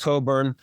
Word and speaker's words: Cockburn: It's spelled Cockburn, but it's pronounced Coburn.